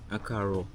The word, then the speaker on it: Akaro: Yeah, in Ikale you say Akaro. Akaro. Akaro. Okay, but in Yoruba it says Ekaro. Ekaro.